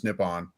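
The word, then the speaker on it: Nippon: that I mean that's literally the name for Japan in Japanese is nipon it's pronounced yeah so um maybe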